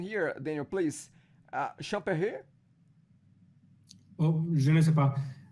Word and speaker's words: Champéry: I'm just trying to pronounce the name of the city there. Champéry, is that? No. I would say Champéry.